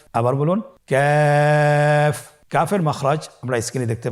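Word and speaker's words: كاف: কাফের মাখরাজ হলো জিহ্বার গোড়া থেকে একটু আগে বাড়িয়ে তার বরাবর উপরে তালির সঙ্গে লাগিয়ে উচ্চারিত হয়। তাহলে আমরা কফ যেখান থেকে উচ্চারণ করেছি একটু আগে বাড়িয়ে সেখান থেকে আমরা তার বরাবর উপরে তালের সঙ্গে লাগিয়ে হরফটি উচ্চারণ করব।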